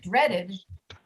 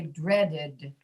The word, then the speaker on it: dreaded: If you look at dreaded, it ends in a D. D is a voiced consonant, dread. So the sound after that for the past tense must also be voiced. So we say dreaded, but we say fixed, dreaded, fixed. And the only reason we add that extra syllable, Hayan, is because You can't hear the second D unless you say dreaded.